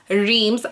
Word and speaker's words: Reims: So champagne, and in general Reims, I'm going to keep calling it by its English name, it's just easier for other people to understand. It's spelled R-E-I-M-S.